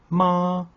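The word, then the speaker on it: 妈: l'image de la tonalité soyez attentif à la prononciation ma ma ma petit conseil pour prononcer le premier ton n'hésitez pas à rester perché très haut dans les aigu votre voix doit être régulière sans oscillation découvrons désormais le deuxième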